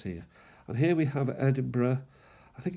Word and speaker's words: Edinburgh: It's spelled Edinburg, but it's pronounced Burough. Edinburgh.